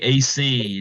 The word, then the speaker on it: Asea: of the wonderful musicians from that group AC did I get that right last name right